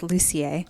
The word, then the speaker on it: Lucier: No, it's French Canadian, so it's Lucier.